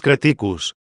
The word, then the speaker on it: creticus: Cuando decimos creticus, este mismo vocablo consta de una primera sílaba larga, seguida de dos breves.